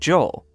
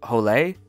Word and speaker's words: Joel: his character was named joel but he said his character is mexican so it's pronounced holley come on cece they